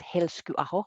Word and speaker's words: Helskyaho: Everybody knows me as Heli from Finland because my last name is quite impossible to pronounce. It's actually pronounced Helskyaho, which is not easy for anybody.